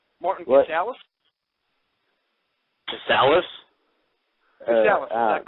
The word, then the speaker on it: Casaus: How do we pronounce your last name? Casaus.